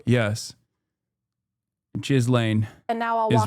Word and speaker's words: Ghislaine: parents this whole time because the way you're pronouncing it is, you're telling me is wrong? Yes. Jizz lane. And now I'll is walk wrong. you through what It's happened. Ghislaine.